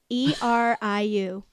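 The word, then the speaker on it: Ériu: In Old Irish, she was known as Uriu. I can't pronounce that. Sure. Eriu.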